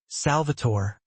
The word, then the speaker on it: Salvatore: Salvatore. He pronounced it the Italian way. Musical almost.